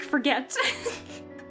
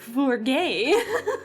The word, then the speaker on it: Forget: Welcome back, Lord Mick Forget. It's pronounced Mick Forgay.